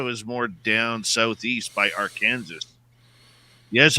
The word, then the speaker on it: Arkansas: Southeast by Arkansas yes I know it's Arkansas I like calling it our Kansas yeah somebody else changed the pronunciation of it they were originally peeved that they were part of Kansas so they made their own Kansas our Kansas and then somebody started